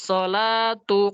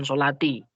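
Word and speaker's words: الصَّلَاةُ: Qad qamatis sholatu, qad qamatis shalah. Ulangi. Qad qamatis sholatu. Ya, bukan sholati. Kadang Ustaz masih masih dengar ada yang bacanya sholati.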